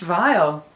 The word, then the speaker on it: Viall: Bachelor this just in his last name is pronounced vile I didn't know that